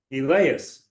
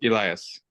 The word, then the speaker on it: Elias: will execute the responsibilities elas I know I pronounced your name correctly incorrectly so I do apologize Elias yes Elias okay as Club secretary